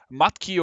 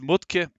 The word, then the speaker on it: Mudtke: I have ever seen his name is matki or if you want to pronounce him in his German original it's mut and yeah see just